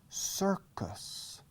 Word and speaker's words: circus: circus, in the circo, circus, sir. La primera sílaba, circus, circo, cir, en inglés es sir, como yes, sir, yes, sir. Sir Lancelot, Lanzarote, of the sirs, okay? Sir, yes, sir, circus.